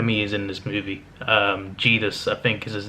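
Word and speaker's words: Zedus: Jedus, I think is his name, or Jedus. It's spelled with a Z, actually, Z-E-D-U-S, but it's pronounced with a J. So yeah, Jedus is a cool looking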